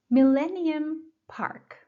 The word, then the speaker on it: Millennium Park: Millennium Park. Millennium Park. The stress is on the second syllable, millennium. Millennium Park.